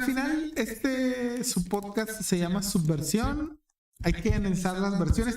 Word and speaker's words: Subversión: En los 3 canales estamos como Subversión, S mayúscula, U, espacio, B labial, espacio, versión con acento en la O, en los 3 canales.